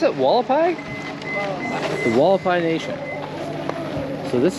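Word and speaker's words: Hualapai: How do they pronounce it? Walapai.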